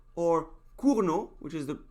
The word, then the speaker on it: Cournot: called kuru no competition kono was a french guy so that's how you pronounce it you just don't pronounce the t so you could say kuno or kurno which is the correct